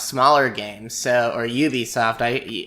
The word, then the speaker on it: Ubisoft: Well, recently I decided to try out Ubisoft's smaller games, or Ubisoft. I hear you can pronounce it either way, so I've chosen Ubisoft because that's the French version, and they're a French company.